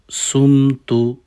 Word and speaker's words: صُمْتُ: আল্লাহুম্মা লাকা সুমতু সুম বলবেন না একটু সদের মত করে উচ্চারণ করবেন।